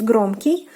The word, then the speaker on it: громкий: uh techno is the the o in the ending is pronounced more like ah and the plural form